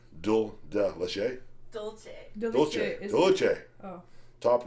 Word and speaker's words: Dulce: toffee stuffed and salted How do you pronounce that, Rachel? Dulce.